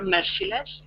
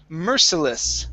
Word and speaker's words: merciless: Uh first up is merciless So the stress is at the very beginning Merciless Merciless Mhm Very